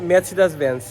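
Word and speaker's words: Mercedes-Benz: এটা হচ্ছে বিএমভি আর মার্সিডিes ব্যান্ড কে বলে হচ্ছে ম্যাচ ব্যান্স তো এই হচ্ছে পরিস্থিতি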